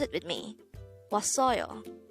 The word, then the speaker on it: 왔어요: This is pronounced as a three-syllable word. The first syllable is was, second syllable is the third syllable is yo. Pronounce it with me. 왔어요. 왔어요.